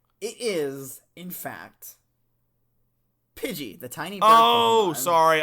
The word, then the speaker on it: Pidgey: Pokemon we'll be talking about next week is pigley no not I don't think there was Pokémon